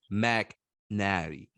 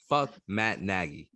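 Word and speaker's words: Matt Nagy: maggie did you hear me mac natty yeah i can't even say his name right his name right matt naggy yeah okay um bulls we're making we're making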